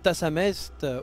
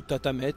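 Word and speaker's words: Tathamet: issus du démon primordial Tassamest, ou Tatamet, vous prononcez comme vous voulez.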